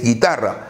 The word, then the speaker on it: guitarra: Observa, tampoco se pronuncia la U. No es guerra, no es guitarra, es guerra, es guitarra. La U no se pronuncia, por lo tanto no forma diptongo.